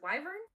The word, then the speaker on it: wyvern: Wyvern. Was it Wyvern? I've always called them Worven, which I don't think is correct.